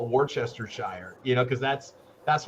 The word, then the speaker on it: Worcestershire: ago i call it warchester shire you know because that's that's what it looks like so you know worchester shire sauce not worcester worcestershire doesn't even phonetically match up with the letters you used why would you call